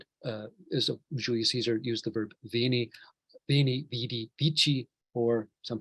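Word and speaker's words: vēnī: but vini with a long a means I have come. Let's show it again. Veni und veni. So this is also an example of upload, stretching vowels to mean different things.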